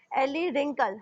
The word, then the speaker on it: wrinkle: अब यहाँ देखिए WRINKLE wrinkle. हमने यहाँ पे W का wrinkle नहीं बोला है, wrinkle.